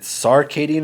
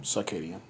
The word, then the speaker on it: circadian: you look that up is it sarcadian rhythm or circadian rhythm circadian i mean i know that but c-i-c-a-d-a i don't